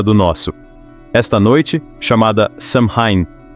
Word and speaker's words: Samhain: nosso esta noite chamada samhain pronuncia-se soin era quando os Fantasmas